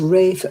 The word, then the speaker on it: Rafe: Yeah, he's Rafe Fiennes, isn't he? He's not Ralph, he's Rafe.